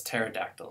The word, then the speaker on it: pterodactyl: So if we get a word like pterodactyl, ptera was Greek for wing, we end up deleting this p, we have to pronounce it as pterodactyl. So the Russian word ptak,